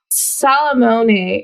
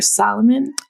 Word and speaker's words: Salamone: Is it Salamone or Solomon? I'm going to guess wrong? Since it's Italian, I think that they pronounce the E's at the end of the words where we don't, but I'm not positive. Salamone. Yeah, I just imagine it in an Italian accent and go with that.